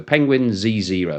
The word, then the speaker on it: Penguin Z0: His name on YouTube is Penguin Z0. So it's Penguin with the letter Z, Z if you're from the UK, but he pronounces it with a Z, and then the actual figure zero.